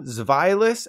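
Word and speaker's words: Zweilous: wrong on all three they're based on the German words for one two and three because one had two heads three heads you get it which means the correct pronunciations are dino zvylus and hydridon thus concludes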